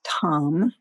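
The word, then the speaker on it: tam: all of the taras which is tom spelled t-a-m and as we sound this seed syllable tom imagine yourself becoming green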